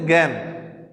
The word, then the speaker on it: জ্ঞান: দেখো তোমরা এখানে দেখো, এখানে স্বরে আ দিয়েছি, উচ্চারণটা হওয়ার কথা ছিল গান, কি গান, কিন্তু আমরা উচ্চারণ করি এর মতো, কি বলি, জ্ঞান।